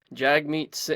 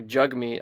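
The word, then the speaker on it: Jagmeet: for me to see Jag meat or jug meat I guess that he pronounces it I say Jag jug whatever B big Juggy over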